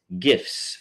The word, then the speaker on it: GIF: 30 unique voters was gifts funny animated gifts gifts for your views and viewing satisfaction and yes that is the proper way to pronounce GIF is with a hard G um and uh that